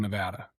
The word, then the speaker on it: Nevada: In fact, the Reno airport actually has the correct pronunciation as you walk through the airport so people can understand that it's Nevada, not Nevada.